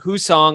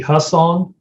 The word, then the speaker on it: Hussong: uh but everyone who's watching we have whose song on today i hope i said that right well it's actually husson but it's okay that's all right hey man